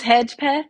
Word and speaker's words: Hedgepeth: It's Hedgepeth. So I I tell said it right. everyone Hedgepeth. hedge like the shrubbery and then path with an E instead of an A.